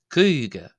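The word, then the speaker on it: caoga: Now number 50 is pronounced coug.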